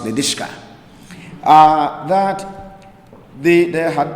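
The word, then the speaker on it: Lidice: c uh I mentioned it in Prague called liis and somebody you know corrected me said it's pronounced lishka uh that they there had been um an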